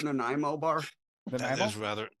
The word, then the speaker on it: Nanaimo: I'll tell you what was good was Rocky's Nanaimo bar cheesecake recipe.